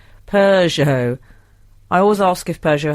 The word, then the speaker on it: Peugeot: On the Peugeot pronunciation question, where does the R come from that most people squeeze in? Peugeot.